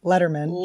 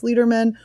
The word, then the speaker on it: Lederman: I'm a natural-born leader I can understand people thinking it's leaderman we pronounce it Letterman but then my dad